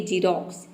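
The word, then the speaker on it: Xerox: एक्स का दूसरा rule है कि यदि किसी वर्ड के शुरू में अगर एक्स आ जाए तो एक्स को हम ज प्रोनाउंस करते हैं, जैसे कि जीरोक्स।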